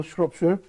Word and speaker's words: Shropshire: by introducing my guest your name is Samuel Shropshire that's correct pronounce that correctly and you are the founder